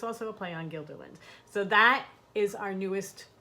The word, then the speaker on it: Guilderland: funny cuz you pretty you keep pronouncing it as Guilderland it's Guilderland and we're like okay however